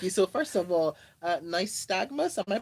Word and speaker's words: nystagmus: So, first of all, nystagmus, am I pronouncing it correctly?